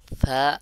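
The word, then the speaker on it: ث: হরফ ছা আলিফ ছা তিন নুক্তা ছা উচ্চারণ হয় সার মাখরাজ হলো জিহ্বার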